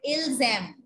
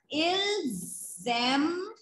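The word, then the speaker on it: ils aiment: We are pronouncing it ilzem. So that means we have to write E-N-T. By how will we come to know in a sentence? By ilzem. This liaison, this sound.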